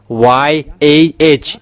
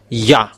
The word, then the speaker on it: Yah: um read it together the result is y a h it's yah. So if we read it it's yah. Oh it becomes rider. That's it. Have this. Yeah. How to read it. Yah is the way how to read it. So remember it well. When you say this y and hey, it's yeah how to read it. You don't go far away. You say yeah.